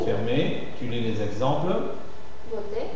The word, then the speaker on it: beauté: Beauté. Beauté O moineau moinau.